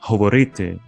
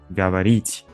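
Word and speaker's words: говорите: Ukrainian is that uh people there don't pronounce uh good like Russians they say ha so for example uh they say hoborite and not gabarit like in Russian so the word speak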